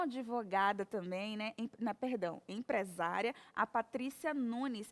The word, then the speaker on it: Patrícia Nunes: Empresária, a Patrícia Nunes. É assim mesmo a pronúncia do seu nome?